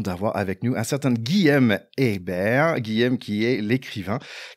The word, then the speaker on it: Guilhem: Ils disaient non, toi t'es américain, t'as un peu de droit, mais chez nous non, c'est Guillaume.